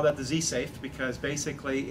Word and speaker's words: Z-SAV: the lab we have something called z safe and it's actually spelled z-sav so we took a little liberty on the pronunciation of sab safe what it stands for